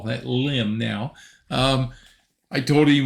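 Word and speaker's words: Lympne: this is not pronounced lipney like the Americans would pronounce it it is limb and he said he's not sure why it's spelled like that but it's pronounced limb so we will try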